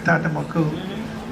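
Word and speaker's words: Tonton Macoute: Am I pronouncing that right? Yes. Yeah, Tantamaku.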